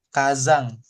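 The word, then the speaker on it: 火山: Nah, ini adalah gunung berapi, gunung volcano Kazang. Nah, ini kanj kalian sudah sama-sama tahu kanji api barusan kita pelajarin ka dibacanya sama belakangnya yama sebenarnya kan gunung. Nah, jadinya kazang artinya gunung berapi.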